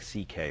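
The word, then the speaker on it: Szekely: It's S-Z-E-K-E-L-Y, and it sounds like C.K., though.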